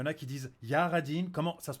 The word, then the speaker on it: Jah Ridin': Ça se prononce Ja, c'est le dieu des Rastas, c'est des Rastafari. C'est vraiment un nom anglais. Ouais, ça se dit Jared, c'est tout. Ok, ok. Jaradine.